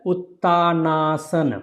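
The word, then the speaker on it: Uttanasana: Or if you put together Uttaanasana. And second name, how it is pronounced?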